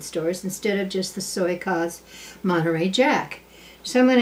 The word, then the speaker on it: Soykaas: Now, Soykaas, S-O-Y-K-A-A-S, makes a wonderful Monterey Jack. The only thing is, my people up here are buying the block in other health food stores instead of just the Soykaas Monterey Jack.